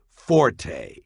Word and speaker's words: forte: and meaning specialty or strong point is not pronounced forte got that it's pronounced fort the italian word